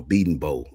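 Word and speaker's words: Bedenbaugh: Um, the the guy at Oklahoma, Beating Bow.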